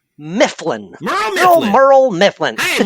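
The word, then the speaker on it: Murl: His name is Merle Mifflin. Merle Mifflin. Hey, Merle, if you're still around. And Merle is spelt M-U-R-L.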